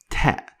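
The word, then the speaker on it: ت: Ta is compared to T, like the word tea.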